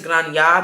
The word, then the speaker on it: Granja: But I think it's Granja because I don't think you pronounce the J.